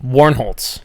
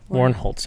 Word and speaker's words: Warnholtz: Warn Holtz. Oh, okay. Warn Holtz.